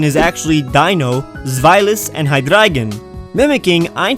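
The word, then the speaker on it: Hydreigon: it's a common misconception that these Pokémon are pronounced Dino zis and hydren but in fact their pronunciation is actually Dino zilus and hydragen mimicking a V and which is German for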